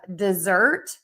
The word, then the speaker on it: dessert: And then we have dessert that we eat at the end of the meal, stress syllable 2, and then desert, sand, stress syllable 1, because sand only has 1 syllable.